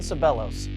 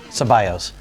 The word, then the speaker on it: Ceballos: bowling today I have a special guest Ivan sellos today what you this pronounced this that's how I've always said your